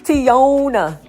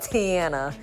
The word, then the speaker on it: Tiana: And they be like Tiana, Tiona, Tina, Tiana, Tanya, everything but Tiana.